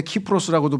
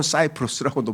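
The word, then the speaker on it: Cyprus: 근데 그게 C로 시작이 되는데 키프로스라고도 발음하고 영어 식으로 하면 사이프로스라고도 발음하고 그래요.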